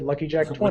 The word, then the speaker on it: LuckyJack020: And I realized I could maybe just silent out the first zeros, and I just said Lucky Jack 20. With a silent 0.